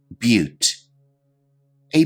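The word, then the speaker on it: butte: the video description below our next term is pronounced a little bit differently than you might imagine but repeat after me but a but is a unique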